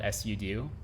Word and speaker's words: sudo: did you know that you can kind of gauge how old somebody is by how they pronounce pseudo? So if they were born like before, I guess, computers were mainstream or Linux was mainstream, they'll call it SUDO.